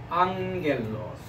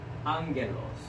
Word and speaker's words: ἄγγελος: So the first syllable, ang, right? Ang. Ang. And then gel los. And then the accent is on the above of the alpha, so the rising sound. So ἄγγελος.